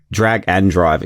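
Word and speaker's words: Drag x Drive: the latest and greatest from Gamescom, our drag drag and drive experience, that's how you pronounce it, and our dead take reviews.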